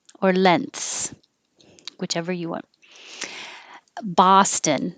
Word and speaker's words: Boston: Boston. This is also an ah. Boston. And we use the same vowel in Prague. Prague. Somebody had Prague Castle as a phrase, and the T is silent in castle.